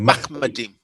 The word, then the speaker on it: Machmadim: It's actually, and as I say, it's actually Machmadim.